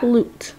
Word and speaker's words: flute: There's a silent E at the end, so the U is long. It says oo. So what word is that? Flute. Very good. That's a musical instrument. Flute rhymes with what?